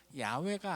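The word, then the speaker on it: 야훼: 좀 잘못된 것이기 때문이에요 구약 학자들은 가장 그 신명삼은 자의 본래 발음에 가까운 것은 아마도 야외가 아니겠느냐 그렇게 추측을 해요 그래서 공동번역 성경에서는 야외라고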